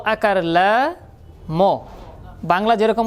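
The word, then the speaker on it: لام: মুখটা পাতলা হবে। যেহেতু পাতলা হরফ। যেহেতু পাতলা হরফ এজন্য কি হবে? মুখটা পাশ থাকবে। উচ্চারণ আমি যেভাবে করব ঠিক সেভাবে করার চেষ্টা করেন। লাম লাম কেমন যেন ল এর মধ্যে জফলা লাগাইলে ল জফলা দিলে যেভাবে উচ্চারণ হয় ঠিক সেরকম উচ্চারণ হবে।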